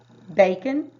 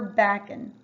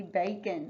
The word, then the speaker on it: bacon: eat pancakes and plank is the a gonna say its name or is it gonna be a short a would it be bacon or bacon good it would be bacon the first one so